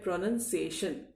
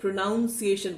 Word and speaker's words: pronunciation: तो ये जो प्रोनाउंस से बना हुआ प्रोनंसिएशन है, मैंने ये देखा है कि कई छात्र और कई बार तो टीचर्स भी इसका उच्चारण ही गलत करते हैं। वो प्रोनाउंसिएशन बोलते हैं क्योंकि उन्हें ऐसा लगता